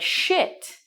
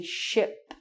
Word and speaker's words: ship: One thing you must be very careful about is you have to really say the P at the end of the word as well.